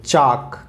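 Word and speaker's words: chalk: टी ए बी एल E table, C एच ए एल के चाक, क्या होता है ये चाक, एल इसमें साइलेंट होता है।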